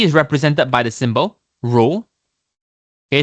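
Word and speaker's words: rho: So density is represented by the symbol row. Okay. So row is spelled as R H O.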